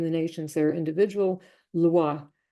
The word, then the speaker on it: lwa: The word loi.